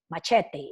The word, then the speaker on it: machete: it has a machete my chat they he will be pronounced in Spanish big big sharp machete so it is time